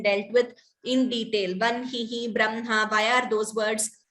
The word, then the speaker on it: Brahma: So in the word Brahma, Ma is first, Brahma. Though it is written as Ha with the Ma below, the pronunciation is Brahma.